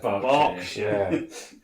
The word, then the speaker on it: Berkshire: It's Berkshire. Yeah. Reading. Berkshire. See, Berkshire should Reading Berkshire. Berkshire should ideally be spelled B-A-R-K because of dog bark.